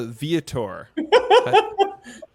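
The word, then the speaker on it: Vietor: toast okay what's the toast to tommy uh viator great you pronounced it correct uh probably trolling this episode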